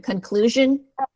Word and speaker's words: conclusion: I just want to point out that with that SION at the end, it kind of sounds like shun, like SHUN.